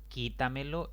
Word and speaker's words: quítamelo: Quítamelo es una palabra de 4 sílabas y la mayor fuerza de voz recae en esa sílaba que se conoce como antes de la antepenúltima.